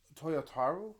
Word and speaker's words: Toyotaro: If I'm mistaken, the art, I can't pronounce it. Toyotaro, I believe is how it's pronounced.